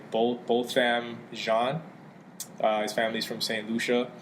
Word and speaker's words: Botham Jean: way, the victim's name is, how do you pronounce his name? Botham Jean.